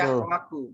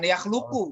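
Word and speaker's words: يخلق: Di sini bacanya betul. yakhlaku, bukan yakhluku.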